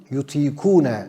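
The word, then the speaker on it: يطيقونه: Bu durumu ifade etmek üzere Kur'an sözünde geçen fiil yutikune şeklinde telaffuz ediliyor.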